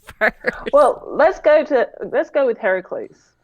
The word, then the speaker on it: Heracles: Well, let's go with Heracles. Hercules. All right. Yeah. Well, So I'm apparently it's supposed to be pronounced Heracles.